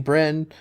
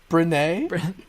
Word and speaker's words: Brienne: Jaime, Brynn. We are getting them now, which this leads into my topic. So we can. Can you say her name again for me? Brienne.